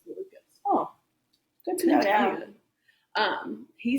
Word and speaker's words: Malukas: I'm saying Malukas, but I think it's Malukas.